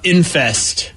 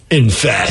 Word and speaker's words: Enfest: If my middle school band was better, it was called Infest. Infest. It's spelled ENFEST with the F backwards because corn. Infest.